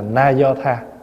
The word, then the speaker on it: na do tha: do tha Có khi chữ do tha là mình đọc gọn đọc đúng là na do tha naay thaa là tiếng